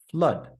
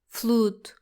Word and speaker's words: flood: words like blood and flood. The double O is not pronounced like food. We shouldn't say Blood. Flood. it's blood and flood. Correct. Blood and flood rhyme with mud and stud.